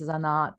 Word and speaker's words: zanat: zanat zanet for us zanat said the second part is lovely most of our stress is on the first syllable um yeah i mean